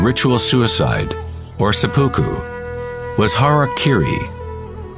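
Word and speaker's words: hara-kiri: In the samurai tradition, one form of ritual suicide or sapuku was hariri was often mispronounced as Harry Kerry.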